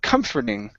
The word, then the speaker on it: comforting: to the word comforting ok so the stress is at the very beginning ok had seemed comforting had seemed comforting had